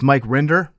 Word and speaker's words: Rinder: life in the highest ranks of Scientology it's Mike rinder did I pronounce that correctly you did indeed you got